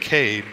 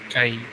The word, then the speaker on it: Kaid: Is it Kaid or is it Cade? Kaid. Really? I think it's supposed to be Kaid, but I mean, you know, if everyone calls him Cade, that's...